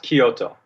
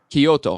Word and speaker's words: Kyoto: Kyoto Japan is that correct is he is pronounced Kyoto Kyoto okay thank you Kyoto Japan he was a school teacher in LA